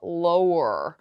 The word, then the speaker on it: lower: 낮추다 뜻을 가지고 있어요 lower 발음이 조금 어렵죠 low 자 War 마지막 알 발음을 굉장히 혀를 끝까지 약간 목적에 닿는다는 느낌까지 혀를 구부려 주시면 이렇게 음하 원어민처럼 음하